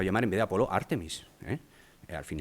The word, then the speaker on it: Artemis: si acaso, y efectivamente los americanos pronuncian Artemis, con su problema con las vocales y todo esto, pero el acento lo ponen en la forma correcta.